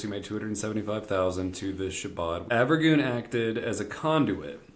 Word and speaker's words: Shabbat: we were at the Shabbat. You said it wrong. Shabbat. You said it wrong. Did I say it wrong? Yeah, again? you said it wrong. How you say it? It's Shabbat. You said Sherrod.